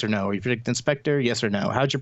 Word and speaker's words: InSpectre: Has a program called Inspector, which is I think pretty clever actually. It's INSPECTRE, so it's spelled like the Spectre flaw.